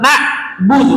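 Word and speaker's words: نَعْبُدُ: Perlu diperhatikan ketika ain sedap sukun, kayak na'budu, ainnya jangan hilang. Jadi bukan na'budu, itu kan hilang ya.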